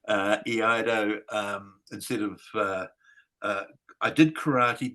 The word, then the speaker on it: Iaido: I looked for one for a long time, and I wanted to do Iaido, which is how you say that word. Iaido, instead of, I did karate because I couldn't find an Iaido teacher.